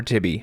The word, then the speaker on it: Tibbe: Whether you pronounce it Tib or Tibbe, Triton makes it easy to cut these rare beasts.